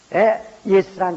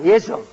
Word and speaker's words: 예수: 그러니까 여러분 예수라는 이름이 여기저기 많다고 해서 솔직히 해서요 나는 한국 사람인 것을 참 감사한 것은 지저스 순종되는데 우리는 예수라는 발음은요 헬라 발음과 아주 100% 똑같습니다.